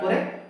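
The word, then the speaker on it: كِ: ওকে, দদ জের দুই, এই যে জিহ্বার পাশ দিয়ে আমরা বলতেছি মোটা করে দুই। কাফ জের কি, জিহ্বার গোড়া থেকে একটু সামনে কি।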